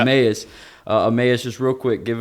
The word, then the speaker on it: Emmaus: This is Emmaus, right? I'm saying it right. Yes, sir. Yeah. Emmaus.